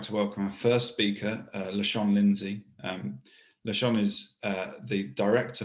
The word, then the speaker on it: LaShawn: As John said, I'm LaShawn Lindsay, pronounced LaShawn, and I'm currently the Director of Infrastructure Operations at Amazon Web Services.